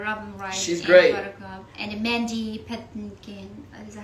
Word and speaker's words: Mandy Patinkin: i love her robin she's great buttercup and mandy pettinkin is that how you pronounce it yeah there's manny patinkin um well sean so many great great actors